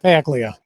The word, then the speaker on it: Paglia: Paglia. Paglia. You do pronounce the G.